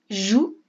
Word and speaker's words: joue: fille la fille eux jouent alors le verbe jouer il se termine par un e qu'on n'entend pas joue avec un e muet la fille joue avec